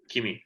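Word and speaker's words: Kymis: Kimi. Kimi, that's the one. Silent S. Silent S. Kimi.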